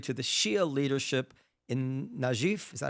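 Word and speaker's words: Najaf: Shia population of southern Lebanon has been tied for century to the Shia leadership in Najif. Is that how you pronounce it? Najif Najif Iraq rather than Iran where the Hashemites were the Hashemites to control Iraq.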